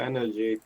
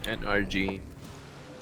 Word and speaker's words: NRG: Wait, do you pronounce it NRG or energy? Because I mean, it is just literally NRG, the letters. Yeah, it's NRG.